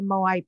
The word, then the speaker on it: Moai: The Moai people, is that how you say it?